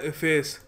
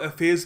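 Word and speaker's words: efface: देखिए अगला शब्द है इफेस। कुछ जगह इसको एफेस भी कहते हैं, मगर इफेस ज़्यादा इसकी एक ज़्यादा फेमस प्रोनाउंसिएशन है।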